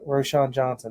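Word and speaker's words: Roschon Johnson: I don't know how, Roshan Johnson.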